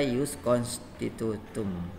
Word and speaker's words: Ius constitutum: itu Ius constitutum ya kita baca use constitutum ini Nama lain dari